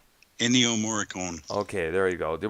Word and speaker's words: Ennio Morricone: And of course, so there was his tribute album to the composer Enrico Mamorte. Was that his last name pronounced? Ennio Morricone.